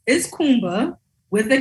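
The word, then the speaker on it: Kuumba: The sixth day, which Nia was trying to pronounce, is Kumba with a K, and it just means creativity.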